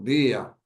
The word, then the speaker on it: día: un hiato muy sencillo, porque día, tanto gramaticalmente como poéticamente, tiene 2 sílabas. Día, hay que separarlo. Está acentuada la llamada vocal débil o abierta, que es la I, y eso hace que se rompa el dictongo.